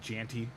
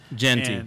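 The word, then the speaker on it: Jeanty: I was not worried about first rounders this year because it was like Janty or bust. Right. Genty.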